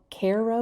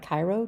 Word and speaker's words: Cairo: The town is called Cairo. It's pronounced Cairo. It looks like Cairo to me.